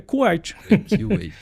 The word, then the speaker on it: Q8: Pronuncia K8 em inglês. É Q8.